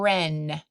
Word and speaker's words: wren: at the end and Wren has a silent W in the beginning let's get our arms